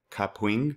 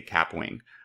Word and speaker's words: Kapwing: to do that and yes it is pronounced cupwing i looked it up like five times because i want to say cap wing but all right let's